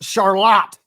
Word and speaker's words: Charlotte: much that and the fact that Charlotte is pronounced charot in Michigan exactly I learned that the hard